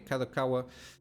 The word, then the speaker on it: Kadokawa: are called let me see if I can pronounce this properly um where ah kadokawa okay kadokawa um they did again the the year on-ear